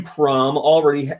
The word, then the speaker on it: Chrom: Eric XC says, "Jokes on you, Crom. Jokes on you. Crom already had an amiibo." And how am I supposed to say his name? Chrome or Crom?